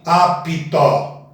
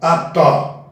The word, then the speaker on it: apto: Nunca, jamais pronuncie apito, e sim apto. A mesma coisa do exemplo anterior.